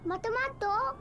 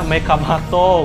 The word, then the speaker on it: Mega Mato: Mato-mato? Mato-mato? Mega Mato lah. Oh, dibacanya Mega Mato.